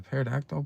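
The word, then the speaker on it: pterodactyl: Do you know why you can't hear a par a parodactyl bro? Because the P is silent.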